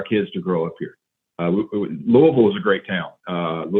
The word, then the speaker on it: Louisville: It's technically Louisville and not Louisville.